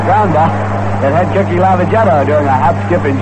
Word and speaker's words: Lavagetto: Before the ball game, we were talking to Cookie about pronunciation, about the pronunciation of his name, saying that we call it Lavagetto, which he calls it, and then we hear from all sorts of people who say you ought to call it Lavagetto.